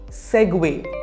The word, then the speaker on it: segue: word word number 30 how do you pronounce this word seg seg segue repeat after me segue the conversation provided a